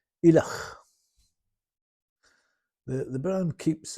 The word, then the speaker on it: Ileach: The name Ileach means man from Islay, and it's pronounced Ileach.